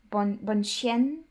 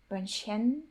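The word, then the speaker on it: Bonchien: It's written kinda Bon Chien, but he pronounced it a little bit differently. Bonchen, Bonchen, kinda like that.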